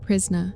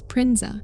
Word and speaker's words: Prinza: She corrects him again, saying, it's not Prisna, it's Prinza.